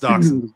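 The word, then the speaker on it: dachshund: Dachshun. It's pronounced Dachon.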